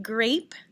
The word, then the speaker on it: grape: Repeat, grape.